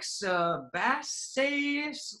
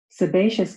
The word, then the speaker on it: sebaceous: So you click it and sometimes students are like sebass gland. They don't really know how to pronounce it but now it's like let me click that sebaceous gland.